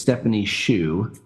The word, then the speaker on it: Stephanie Hsu: I said it wrong last week. It's Stephanie Hsu.